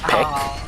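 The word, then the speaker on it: 백: So 100 in Korean is pronounced peek.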